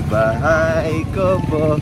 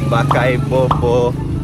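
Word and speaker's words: Bahay Kubo: Go, say Bahay Kobo. Kahit munti. That's how you sing it. Bahay Kobo, kahit munti. Nitro sings Bahay Kobo pero mali yung pag-pronounce niya. He sings, Bakay Bobo kahit muti.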